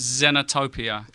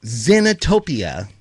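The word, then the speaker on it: Xenotopia: X is a Z, so it's Zenotopia. Zenotopia.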